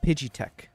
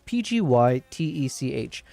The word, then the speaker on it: PGYTECH: Because, yeah, it's from a company called Pidgeytech. Actually, is that how you pronounce it? I keep saying Pidgeytech. But it's Pgytech.